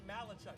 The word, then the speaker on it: Malachuk: their own 26 uh Logan malachuk emphasis last name last syllable he Chucks it down